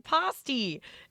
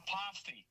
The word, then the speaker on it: pasty: Don't Don't pronounce the r. It's ah.